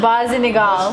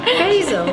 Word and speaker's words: basil: But Basinigal. Let's do it like that show with it's the Sopranos pronunciation. Basil. There's no N in basil.